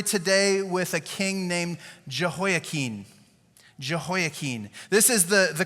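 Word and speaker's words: Jehoiachin: Uh this is Jehoaken. Here's a couple things I want you to notice about this guy. Okay. Uh, this guy, you would have thought I said Jehoakin and I said it wrong because this looks a lot like Jehoachin, right? Jehoachin is what a Midwestern person would say this king's name is, right?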